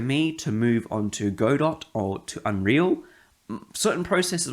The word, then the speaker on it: Godot: game in god or godot as people say i think godot is the pronunciation term for it um it's because it's a t in it and look that's another